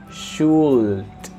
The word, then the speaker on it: should: Again, remember, in the pronunciation of should, the L, put it in black here, is mute. So the sound is mute. So you don't say, listen, you don't say should, no, or should, no. You say should, and that's it.